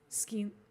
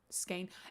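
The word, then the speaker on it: Skene: Skeen. Skane. Hey. I say skeen. Thank you very much. I know technically, like if you go by the German pronunciation, it would be skane. Technically, it would be skine if you went by German pronunciation.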